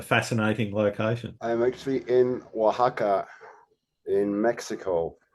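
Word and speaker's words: Oaxaca: you're in a fascinating location I'm actually in Waka in Mexico it's spelled actually o a x a CA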